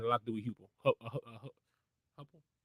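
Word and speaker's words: Heupel: I know that the speed had a lot to do with Hupple, however you say his name, the guy that was once part of the Hypel. Hypel. There we go.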